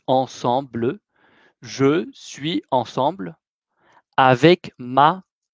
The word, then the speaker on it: ensemble: Je suis ensemble avec ma mamie. Voilà. Je suis ensemble, non ensemblé, c'est ensemble.